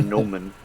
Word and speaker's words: gnomon: I think it's just called a gnomon. I think it's just called a gnomon. That's That's how you pronounce it.